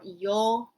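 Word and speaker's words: 曜: So if you can read hiragana, this kanji stands for yo u. It's pronounced yo. It's a long sound, yo.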